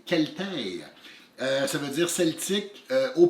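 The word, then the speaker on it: Celtae: Moi, je vous parle d'un jeu avec un nom qu'il a fallu rechercher sur Internet pour savoir comment le prononcer. C'est Celtaire.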